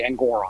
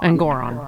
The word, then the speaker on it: Engoron: uh at sorry I I always mispronounce his name it's actually engoron engoron um and Goron but